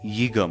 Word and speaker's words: Uyghur: off the bat it's yiga muslims i have heard many people say uyghur muslims and they wouldn't be wrong per se but this is just the politically correct way of pronouncing it so who are eager